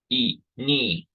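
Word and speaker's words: iinii: of hear that pause between e and mean e knee which means Buffalo e near so that's the glottal stop we also see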